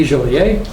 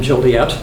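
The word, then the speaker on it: Jolliet: whose name was Louis joler Americans insist on pronouncing the name jolet and uh he got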